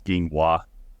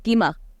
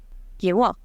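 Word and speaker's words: Gwi-ma: I kept thinking it was Ginghua. It's Gima. I don't know. Ginghua just flows better off the tongue. Anyway. Inwa? Gima. Sounds like quinoa.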